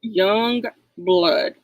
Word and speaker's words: YUNGBLUD: So it's not spelled like it's supposed to be. But young blood.